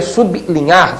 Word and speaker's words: sublinhar: ou seja sub bli o povo passou a dizer bli que não é uma pronúncia perfeita né pronúncia perfeita su linhar destacando levemente Então como o l